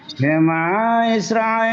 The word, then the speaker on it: Shema Israel: Kita ingin pronunciation Silakan, yang More jelas. Billy lanjut. Silakan. Shema Israel Adonai Adonai Echad.